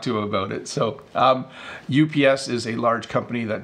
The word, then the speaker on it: UPS: So that's how you say it in English, UPS.